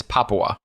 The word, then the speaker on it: Papua: to pronounce this one I kept calling it Papua or something like that it's it's Papua no like Papua New Guinea exactly okay I should